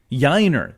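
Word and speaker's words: Yainer: either Corey Lee or yanio pronounce that for me I was having trouble yiner thank you yeah like Shiner okay I got that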